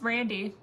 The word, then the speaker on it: Randy: said it right yes people call me Brandy a lot and I'm like nope there's no be yeah it's Randy and again I know